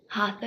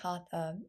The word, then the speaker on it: hatha: The word hatha is often translated as forceful, but its deeper meaning is much simpler. It's made of 2 syllables, ha and tha.